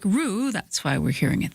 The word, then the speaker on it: ro: In Norwegian, the word row is R-O, pronounced like roo.